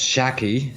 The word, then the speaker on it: Shaki: Yeah, and I just learned from the chat that FTW's mid laner's name is pronounced Shaki, so Shaki's still trying to find a way to make it all work out for him here.